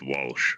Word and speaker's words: Walshe: You know it's pronounced Walsh, right?